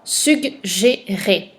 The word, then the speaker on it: suggérer: Le mot suivant, suggérer. Le premier G fait le son G dans la syllabe sug. Et le deuxième fait le son J.